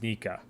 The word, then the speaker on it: Nika: for Luffy's grin, and it's the sound effect pronounced as Nika, which is relating back to Who's Who.